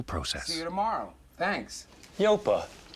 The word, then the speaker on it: Yopa: see you tomorrow thanks yopa how do you spell that no stop it it's not yopa it's yopa local agents low fee